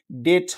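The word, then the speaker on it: debt: এখানে কিন্তু ডেট হবে। কারণ কি? এই যে বিটি পাশাপাশি থাকলে আপনার বিটা উচ্চারিত হয় না।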